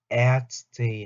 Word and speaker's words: Ärzte: die 요것도 Ärzte 하고 옴라우트 붙습니다. Ärzte. 그래서 옴라우트가 붙고 에 해서 Ärzte.